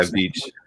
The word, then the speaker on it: Veitch: I never know how to pronounce Veitch. Yeah, Veitch.